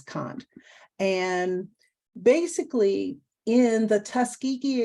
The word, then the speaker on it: Kant: Some people say Kant, other people say Kant. You know, it does not matter how you pronounce it, but it's most people will pronounce it as Kant.